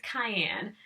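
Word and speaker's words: Cheyenne: Jason Robards who played cayenne and yes his name sounds like the seasoning but it's not spelled like it but oh my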